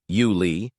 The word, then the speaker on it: Yule: Yule Kilcher, pronounced Yuli, was a multilingual scholar who could hold a conversation in a dozen tongues.